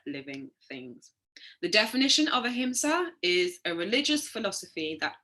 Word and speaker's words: ahimsa: So ahimsa, pronounced ahimsa, is an ancient Indian principle of non-violence which applies to all living things.